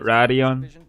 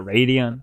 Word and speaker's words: Radeon: That's how they say it, Radeon. Putting its best Not Radeon.